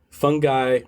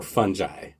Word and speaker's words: fungi: have the discussion about how it's pronounced. Fungi or fungi? Which do you prefer? I like the Scottish version, fungi, but I also love the fungi and fungi for when we need to make some jokes.